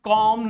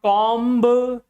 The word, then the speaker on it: comb: B is silent because B just come after M.